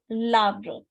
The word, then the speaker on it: l'arbre: How will we pronounce l'arbre? L'arbre. One word, l'arbre.